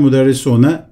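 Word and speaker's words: مدرسون: Müderris, öğretmen, müderrisune, öğretmenler. Müdir, müdirun, muvazzaf, muvazzafun, neccar, neccarun. Peki konuşma dilinde son harflerin harekesini vermemek, telaffuz etmemek.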